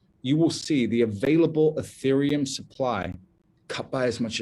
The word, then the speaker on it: Ethereum: my number one crypto recommendation today is called ethereum and I'm going to spell that for you e t h e r